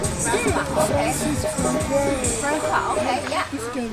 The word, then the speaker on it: François: Pronunciation is very different. François, okay?